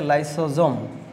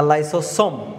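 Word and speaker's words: lysosome: আচ্ছা, এটাকে আমরা বলতেছি হচ্ছে লাইসোজোম, এটাকে বলা হচ্ছে লাইসোজোম, লাইসোজোম বা লাইসোসোম, এটার উচ্চারণ কিন্তু ভাইয়া দুই রকমের আছে।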